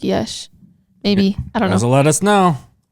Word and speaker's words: Yash: ನನಗೂ It's pronounced like Yesh.